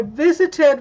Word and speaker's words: visited: I visited with you yesterday. Yes. Yes, it adds an extra syllable. Visited. It's got 3 syllables. 3. Visit is 2. Visited is 3.